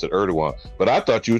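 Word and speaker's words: Erdoğan: Turkey oh co ER erdogan yeah I they pronounce it erdogan but I thought you were talking about the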